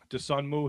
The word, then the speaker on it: Dosunmu: Even this one is the uh Ayo Dosunmu I always I always get his name wrong. Dosunmu his uh his game against his 43 points